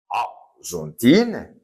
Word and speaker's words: Argentine: exemple France comme terminant e est fémin comme ça c'est e mué ne se prononce pas je dis arontine je ne prononce pas le eintine et je dis fron d'accord Donc simple de pays masculins.